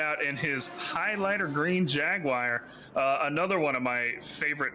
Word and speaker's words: Jaguar: Jaguar. So it's just Jagwire, Jaguar. Basically, yes. Okay, I got you. Absolutely amazing. As someone who's obviously British and obviously pronounces it very differently, it is interesting to